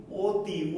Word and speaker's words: অতি: বিকল্প এই জন্য হতে পারে শিক্ষার্থী বন্ধুরা, যে অ এর উচ্চারিত রূপ কিন্তু ও এর মতো হয়। জানো কি তোমরা? যেমন দেখো অ তয় রস্বই, কিন্তু এর উচ্চারণটা আমরা অতি বলি না, কি বলি? অতি, অতি।